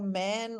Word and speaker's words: Mann: Do you pronounce it Mann or man Oh or?